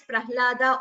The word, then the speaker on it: Prahlada: Janhavi, I have already explained, we pronounce it as Janhavi, and we do not say Jahnavi, but Prahlada is pronounced as Prahlada only, the way we taught in class.